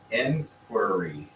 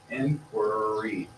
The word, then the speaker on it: inquiry: it's a syllable sound so there you go inquiry inquiry y has an e sound e inquiry hear it inquiry it's its own